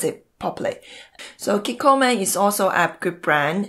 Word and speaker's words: Kikkoman: So one is Kikkoman, if I pronounce it properly. So Kikkoman is also a good brand.